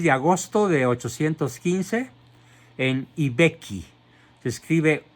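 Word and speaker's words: I Becchi: Nace pues el 16 de agosto de 815 en Ibecchi. Se escribe I, que significa el, Vecchio.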